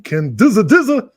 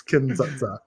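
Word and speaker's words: Kin-dza-dza: Soviet film Kin Za, which for weeks I've been pronouncing Kin Dizza Dizza. So funny every time. It's Kin Za.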